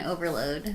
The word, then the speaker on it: OVRLD: first things that pops up well and then overload yeah Obi rld calm that's it mm-hmm and everyone always pronounced is that at some other weird thing